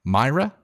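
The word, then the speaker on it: Maira: the money gun uh I almost said Maria and I think I said your name wrong earlier m-a-i-r-a Myra thank you for the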